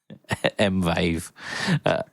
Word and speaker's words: Mvave: Um affordable brings you pedals from Demon Effects, JSAX, Musky, Joyo, 4D, Kaline, Nox, Mal Cord, and Mave Mvave. Amazing prices. Um, never will it be pronounced not like microwave.